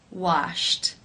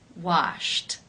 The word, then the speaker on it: washed: you pronounce this word the final sound in infinitive form is sh the unvoiced sh sound since it is unvoiced it is case one where the Ed is pronounced as a t washed washed how do you pronounce